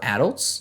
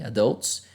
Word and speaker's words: adults: good news um 34 adults or adults both pronunciations are fine okay adults uh I go with adults it's a more American English 34 adults took part